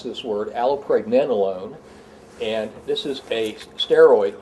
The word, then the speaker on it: allopregnanolone: The other thing is, I want to show off here, I've learned how to pronounce this word, allopregnanolone, and this is a steroid hormone.